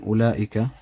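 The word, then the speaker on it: أولئك: This waw here in ulaika, just for an example, ulaika. We have example of two things. We have a letter, this letter here, which is written, but it's not read. You don't read it. You just go ula, ula. You don't say ul.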